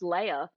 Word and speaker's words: Lea: in point the um leah salonga which i now know is pronounced leia me and every other person who has ever said that name around me is has been wrong their entire lives so leia salonga i